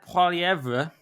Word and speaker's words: Poilievre: And Pierre Poilievre, which is how we may pronounce it, has not only lost the election,